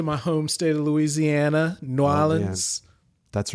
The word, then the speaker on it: New Orleans: Say it right. New Orleans. Say New Orleans. New Orleans. And just one word.